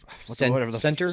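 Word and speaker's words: Sentre: He's trying to tell her about this company's Center Center. Thank you. with an And, And like- it's spelled like century. and when their logo is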